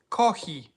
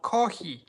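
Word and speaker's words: コーヒー: And then a Japanese person will say kohi. I'm like, wait a second, that sounds a lot like coffee. No, kohi. It's like, okay, sounds pretty much the same. No, it's not the same. Kohi.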